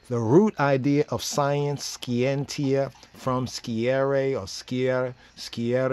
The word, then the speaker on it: scientia: Latin scientia right scientia Martin pronunciation skientia from skierre sciary scary almost sounds scary that's why science does